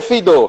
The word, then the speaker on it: Feydeau: Os 10, se eu pronuncio essa? Seria Feydeau.